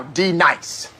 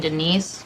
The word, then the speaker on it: Denise: Do you mean Denise? Son of a bitch! You say your name right now. Denise? Say it right. Denise. Correctly. Denise. Right. Denise. Right. D-nice. That's better. Thank you.